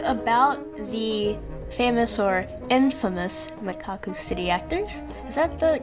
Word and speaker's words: Mekakucity Actors: going to talk about the famous or infamous macaca City actors is that the correct pronunciation mekakucity actors mekakucity actors mekakucity actors that's actually the real pronunciation but